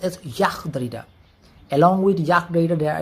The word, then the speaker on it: Jacques: So Jac Dida uh is actually spelled as Jakis Darita Ju S I D Jakis Darida but it he is pronounced as Yak Da.